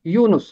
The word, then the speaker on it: یونس: لکھا گیا ہے یونس، اس کا تلفظ ہے یونس۔ اور اسی طرح یوسف، یہ کے اوپر بھی پیش ہے، سین کے اوپر بھی پیش ہے، یوسف، یونس۔ میکا، میکا اصل میں